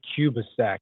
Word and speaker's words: Kubicek: Yeah, we just always say Kubicek, like the country and then the time increment.